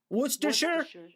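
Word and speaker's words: Worcestershire: This is how you pronounce it. Worersher.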